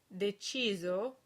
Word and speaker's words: deciso: S is pronounced Z when it's between two vowels within a word, as in deciso, or when it comes